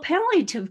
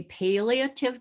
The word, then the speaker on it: palliative: And then I'll end my conversation today talking about hospice in comparison to palliative care. Well, palliative care, I've heard people say palliative care, but actually nationally it's pronounced palliative, palliative.